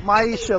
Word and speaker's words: Maisha: Maisha there you go now how is it myisha like my Isa like I used to